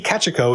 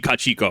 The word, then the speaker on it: Kachiko: I think technically his pronunciation is more on point. Because Japanese has equal stress on each syllable. So yeah, but I'll say it the Americanized way, which I shouldn't.